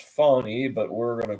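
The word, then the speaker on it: Fani: the red velvet cake Fanny Willis she prefers her name to be pronounced fonny but we're GNA call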